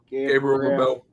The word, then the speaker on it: Gabriel LaBelle: Gabriel LaBelle.